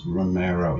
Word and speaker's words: Romero: Romero. Yep, pronouncing that right.